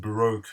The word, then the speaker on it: baroque: world of Barack pop always it baroque pop whichever pronunciation you want to use but all tensed Barack because that's why here most of the time and I've done a